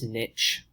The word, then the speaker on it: niche: has what's called a niche and some people pronounce this niche I like niche better a niche is a